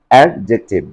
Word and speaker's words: adjective: used after D letter, if J letter is used to D letter, and you have to pronounce silent sound of D letter, silent sound of D letter.